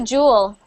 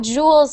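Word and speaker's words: joule: pronunciation Jewel Jewel so remember that this one is not supposed to be pronounced like je je we pronounce that just the same as Jewel Jewel jeel Jewel and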